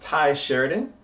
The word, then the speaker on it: Tye Sheridan: Starting right off the bat, I believe it's pronounced Tye Sheridan.